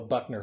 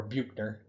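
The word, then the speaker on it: Büchner: what we use is called a buckner funnel or buchner depending on who pronounces it and it's just a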